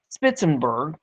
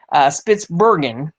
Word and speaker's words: Spitsbergen: or on the Norwegian island of Spitzenberg, or I didn't pronounce that right, Spitsbergen, as seen at the top of this story.